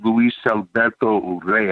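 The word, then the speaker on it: Luis Alberto Urrea: my best friend growing up his name is Luis Alberto Rea I gotta say it like that he's a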